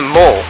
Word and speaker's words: Mall: But over there is a mall.